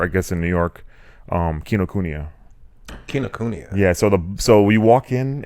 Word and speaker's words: Kinokuniya: Kinokuniya. Kino. Yeah. Ku. Oh, books. Kinokuniya books.